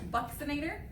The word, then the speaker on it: buccinator: si I an ATO R and it is pronounced Buxton ater I learned this because there were four anatomy